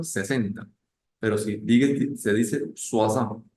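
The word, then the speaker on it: soixante: sería el número 60 pero si se dice swasan y luego se dice el número del 10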